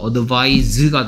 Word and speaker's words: advise: 동사는 C가 아니고 S입니다. 발음은 advise가 되고요.